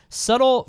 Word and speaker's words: subtle: we'll wrap it up subtle fraudulence hope is subtle yeah i felt like i said it without the b even though they're you don't pronounce the b does it seem like